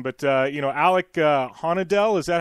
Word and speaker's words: Houde: He's got my attention now, and I'm gonna butcher the last name, but Alec Houde, is that how you pronounce it? Yeah, Houde.